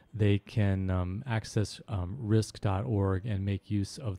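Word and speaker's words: RxISK: can um access um risk. org and make use of the resources there risk. org is spelled RX I rather than risk r r i if you go in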